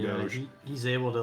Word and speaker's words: Doge: That's how you pronounce it? No, it's Doge.